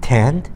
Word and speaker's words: tanned: 뒤에 그 ED가 거의 들리지가 않죠? Tanned? 원래 tanned인데 ED 발음을 거의 들리면 완벽하게 생략한 점.